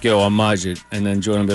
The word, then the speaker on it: Majid: It's Majid.